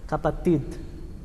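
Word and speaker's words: kapatid: um D mas ele é bem fraquinho né sim capati sim Tid capati tipo viram um D é como espanhol solidade verdade isso capati então irmãos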